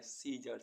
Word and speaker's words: scissors: SCISSORS सीजर्स, सीजर्स means कैंची। SCION Sion, Sion means वंशज। ऐसे वर्ड्स जिनमें अल्फ़ाबेट डी साइलेंट रहता है।